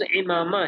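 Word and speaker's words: عمامہ: اس میں شامل تھا، صحیح اس کا تلفظ امامہ ہے عربی میں، تو امامہ بھی تو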